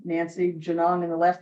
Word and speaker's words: Genung: You just go on Amazon, put in my name, Nancy Janong, and the last name is spelled Genu N.